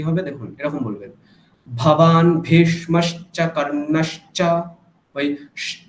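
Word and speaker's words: भवान् भीष्मश्च कर्णश्च: ভবান ভেষ, এখানটায় দেখুন দুটো ভকার আছে, দুটো ভকারকে কিন্তু মহাপ্রাণ উচ্চারণ করতে হবে, অল্প প্রাণ বললে হবে না, ঠিক। ভবান ভীষ্মশ্চ কর্ণশ্চ, বলুন।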